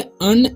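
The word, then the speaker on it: Anne: So students, इसे हम पढ़ेंगे अन। ए से क्या होता है? ए से होता है अ, ओके। और एन से क्या होता है? न। और फिर एन से बड़ी न हो जाएगा, मतलब फुल न हो जाएगा, पूरा न, ठीक है। तो अन एंड ए एन जब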